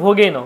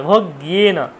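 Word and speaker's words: ভাগ্যেন: বলতাম গয়েকা, ভগ্যেন, ভোগেন, অনেকে বলে ভোগেন, কিন্তু ভোগেন নয়, ভগ্যেন, গয়ের সাথে ইয়াফলা যুক্ত আছে, ভগ্যেন।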